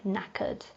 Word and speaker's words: knackered: cash and the N we do not pronounce the K before the word so it's just pronounced like knackered and knackered is a synonym for